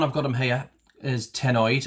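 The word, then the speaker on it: cenoid: I've got them here is tennoid. I think it's pronounced. It's got a silent c. So, it's c e n o i d.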